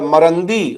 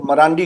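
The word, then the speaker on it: مرندی: Iran के Tehran university के जो प्रोफेसर हैं मोहम्मद मरंदी गालिबन ये सही प्रोनाउंसिएशन है। जिनको आमतौर पर अंग्रेजी मरांडी कहते हैं।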